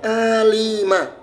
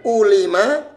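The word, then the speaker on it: عَلِمَ: Maka cara membacanya alima, bukan ulima atau alama, bukan.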